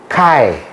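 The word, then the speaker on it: Χ: Ini dibacanya itu Kai, ya.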